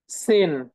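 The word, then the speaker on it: zehn: এস এর উচ্চারণ জেড এর মতো জেড এর উচ্চারণ এস এর মতো সেন okay fine সেন সিন সেন সেন হুম সেন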